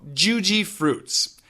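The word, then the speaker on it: Jujyfruits: So, Juji fruits.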